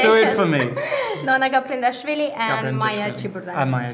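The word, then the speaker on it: Nona Gaprindashvili: It's chess country because you've got Nona Gabrindashvili. I can never pronounce her name. Very good. Very good pronunciation. Do it for me. Nona Gabrindashvili and Maya Ciburdan.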